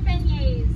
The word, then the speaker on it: beignets: How do you pronounce it? They're beignets.